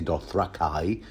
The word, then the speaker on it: Dothraki: well no unfortunately Zolo the Dothraki or suppose I should say doth rakai following George R Martin's you know pronunciation guide H Zolo the fat